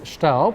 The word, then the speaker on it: Staub: Well, the name is Staub and it's owned by a German company, but it's French made.